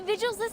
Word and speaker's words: Vigil: I need the Vigils' help. Oh, okay, it is pronounced Vigil. Okay, alright, it might be an accent thing.